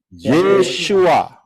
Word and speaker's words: Yeshua: Pengucapan di dalam bahasa Indonesia adalah tertulis Yeshua. Betul? Ya benar, karena orang Israel ngomongnya Yeshua.